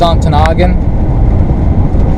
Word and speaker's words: Ontonagon: I heard the locals say Ontonagon. Like that fast. Ontonagon. I think officially it's Ontonagon.